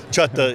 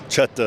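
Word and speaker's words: Chahta: Chutta is the non-English version of Choctaw. Choctaw is an English word. Chutta is the original pronunciation.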